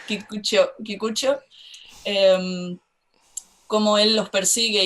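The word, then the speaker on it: Kikuchiyo: ellas, como cuando Kikuchi, es que yo lo pronuncio muy mal, yo lo pronuncio al Spanish, digo Kikuchillo y no está bien, Kikucho, como él los persigue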